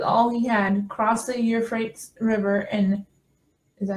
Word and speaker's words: Euphrates: So he fled with all he had, crossed the Euphrates River, and is that how you say it?